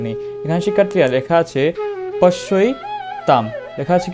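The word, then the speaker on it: পশ্যৈতাম্: এখানে শিক্ষার্থীরা লেখা আছে পশ্যই তাম, লেখা আছে কি পশ্যই তাম। শিক্ষার্থীরা এখানে একটু আমরা উচ্চারণটা লক্ষ্য করি। এখানে আমরা উচ্চারণ করব পশ্য এ তাম।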